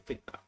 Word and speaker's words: FCRA: But in FICRA, that is Foreign Contribution and Regulation Act, I am pronouncing it as FCRA, FICRA.